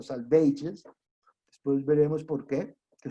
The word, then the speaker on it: Salvages: Después sigue The Dry Salvages, que él lo hace pronunciar así, no Savages, sino Salvages.